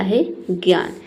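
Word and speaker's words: hedge: तो डी के बाद अगर जी ई दिखे तो वहाँ पे डी लेटर क्या रहता है, साइलेंट रहता है। ठीक है, यानी कि डी को हम नहीं पढ़ते हैं।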